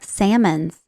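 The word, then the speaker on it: Sammons: or the Salmons Wing Salmons s a m m o NS not like the fish Salmons not salmon the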